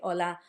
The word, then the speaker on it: hola: It's the letter H, which in Spanish doesn't have a sound. We call it H on the alphabet, but then it's got no sound.